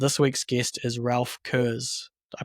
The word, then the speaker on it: Kurz: So this week's guest is Ralph Kurz. Did I pronounce that right, Ralph?